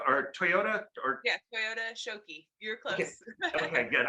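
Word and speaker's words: Toyota Shokki: Is it Shiko Tokyo or Toyota or? Yeah, Toyota Shoki.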